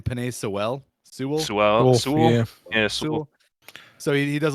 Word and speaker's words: Sewell: Sewell.